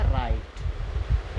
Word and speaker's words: right: ऐसे ही RIGHT, इसे क्या पढ़ेंगे? राइट।